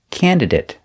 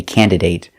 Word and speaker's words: candidate: clothes by hand example candidate I've heard Americans say candidate but it doesn't sound right and it doesn't follow the rule so pronounce it candidate it sounds better example did they choose